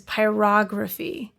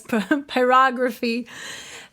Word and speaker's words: pyrography: I've I've learned it's it's like pronouncing photography is pyrography because I was like pyrograph they like no it's yeah pyrography it's like no it's pyrography and he asked if